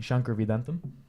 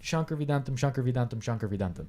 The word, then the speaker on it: Shankar Vedantam: That's how you pronounce it. Say it again. Shankar Vedantam. All right. Yeah, and so great podcast. And say it 3 times fast. Shankar Vedantam.